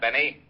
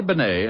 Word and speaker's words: Bennet: It's pronounced Bennet, not Benny. That idiot was calling him Rene Benny.